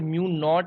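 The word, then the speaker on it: mu naught: अभी अगर म्यू नॉट है, this is pronounce as म्यू नॉट।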